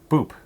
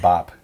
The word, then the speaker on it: Boop: right oh it's uh Boop right yep whoop I was pronouncing it wrong at one time I wasn't doing the long o sound I was doing Bop but it's Boop so this is a